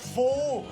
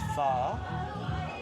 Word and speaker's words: Phở: It's not pho, okay? If I hear one more tourist call it pho, I'm gonna lose my shit. It's pho.